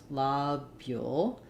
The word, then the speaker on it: lobule: it's as I mentioned first syllable stress La bule um and it can be ooh or o so it's a small